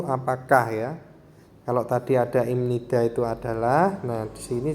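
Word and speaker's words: 입니다: Jadi ibnida itu ketika dilafalkan jadi pengucapan atau pelafalannya dengan imnida.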